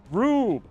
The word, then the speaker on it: Rube: Pronounce Rube, but I like Ruby. It's so much fun. Why would you have an E if you wanted your name to be pronounced Rube? Why wouldn't you spell it Rube?